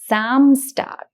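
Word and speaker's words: Samstag: and zont so Zam if you notice the pronunciation of s becomes Z so it is samstar and and similarly the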